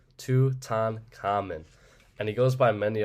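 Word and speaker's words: Tutankhamun: them you probably have his name is actually pronounced Tu tan common and he goes by many other names but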